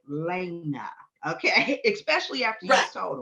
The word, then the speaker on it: Lay'na: And he said, "Okay, make sure you say her name is Lena Michelle."